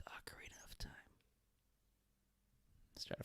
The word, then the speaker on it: Ocarina: Or Ocarina of Time, if you pronounce it that way. But for those of you who want to pronounce it correctly, it's Ocarina of Time.